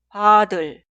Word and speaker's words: 받을: Y la segunda conjugación se escribe así, pero se pronuncia 받을, 받을, 받을.